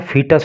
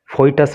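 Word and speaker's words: foetus: देखो इसका जो प्रोनाउंसिएशन होता है वो फीटस होता है, फोइटस नहीं होता है, तो इसका आप खास ख्याल रखो।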